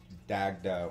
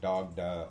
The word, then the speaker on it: Dagda: what they are um that have dagda or dogda or some variance of that word or name name in